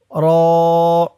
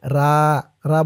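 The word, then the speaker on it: ر: জাল দল জাল র অনেকে বলে রা বললে শুদ্ধ হবে না বলতে হবে র আলিফ বা তা জিম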